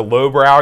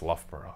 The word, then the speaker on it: Loughborough: looked at it and I didn't know how to pronounce I said she went to lowbrow University he did not appreciate that at all get yourself over world God he went it's Loughborough and then he just